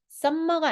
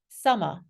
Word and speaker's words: summer: 스윔밍이라고 발음하시는 분 없잖아요 m이 두 개일 때 그래서 이거 그냥 스위밍이라고 발음하시잖아요 그렇다면 m이 두 개잖아요 자음이 두 개면 하나만 발음하시는 거예요 그래서 썸머가 아니고요 썸머라고 맨날 하시거든요 아니고 써머 썸머 summer met 아니고 써미트 써미트 써밋 이것도 엠마 아니고 에마 에마 그죠 그래서 이렇게 연결되는